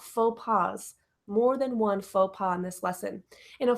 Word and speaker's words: faux pas: passe more than one faux pas in this lesson in a faux pas is an embarrassing social mistake an embarrassing social mistake and it sounds like French because we stole it from French so it comes from